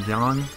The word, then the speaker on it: Yang: I always call him Yang because you know it just sounds better to me sorry but I'm used to the more like English like pronunciations because the word yang rhymes with like say Fang you know so that's